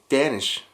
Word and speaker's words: Danish: there, I found danish So in American English, it's deahn-ish but since it's an "a" I assumed it would be dahn-ish in Japanese I shouted, "oh that's dahn-ish! I love it" And my friend said "Wtf is dahn-ish!? It's deahn-ish!"